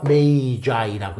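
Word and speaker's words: Magi: 헤로드 왕이자 동박사 3명 복수니 메이저라고 읽어야 돼요 단수는 메이거 거예요 메이거스이 동방 박사 거의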